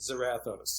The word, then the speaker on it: Zarathos: It's Zarathos, but right. But he's not from the north of hell. But his family pronounces it Zarathos.